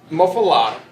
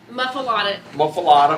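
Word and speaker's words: muffuletta: Okay, That muffalata, muffaletta. muffaletta. Say it right.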